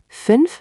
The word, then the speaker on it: fünf: Fünf for 5. Remember the U sound, like pursing your lips for U, but saying E.